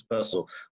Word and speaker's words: Purcell: scansion is such that they can only work if it's Purcell with a stress on the first line.